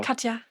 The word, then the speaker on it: Katja: How you pronounce it in German? Is Katja or Katja? Katja.